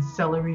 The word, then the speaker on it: Seluri: So this one is on celery greenleafs plots, SELURI. I do have a thing for vegetable named orange, so slight misspelling, but it's pronounced like vegetable celery.